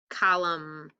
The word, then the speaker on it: column: a tool french and which two of these words um have a digraph with a silent letter it sounds like an um crumb and column these are my silent letters so i'll go ahead